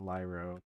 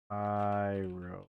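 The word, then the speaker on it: Pyrolyse: I need the pyrolace oven. Not lyro. Pyro.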